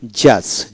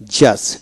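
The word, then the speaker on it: judge: তারপরে silent D, যেমন জাজ, জে ইউ জিই জাজ, ডি উচ্চারিত হবে না।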